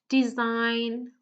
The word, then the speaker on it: design: So I'll just give you a few more seconds to tell me which letter is silent in each of the words, okay?